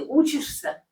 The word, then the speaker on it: учишься: Где ты учишься? Где ты учишься? Okay. So учишься. Учишься. Учишься. Make sure that you spell it with a soft sign, though you don't particularly hear it. It's grammatical form.